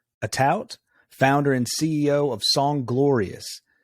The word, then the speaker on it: Atout: Atout, right?